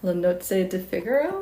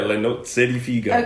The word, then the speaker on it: Le Nozze di Figaro: And then you performed opera roles, including Figaro in, I don't know if I can pronounce this, La Nozze di Figaro? Yeah, Le Nozze di Figaro.